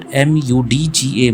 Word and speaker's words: mudga: So the corresponding Rig Vedic term or the Sanskrit term used for moong dal was mudga. You can pronounce this at MUDGA, mudga, right?